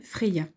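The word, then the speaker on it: Freyja: ce flirt pourquoi pas à propos de frais gyan prononcé freya effectivement ds terrestre ou nordique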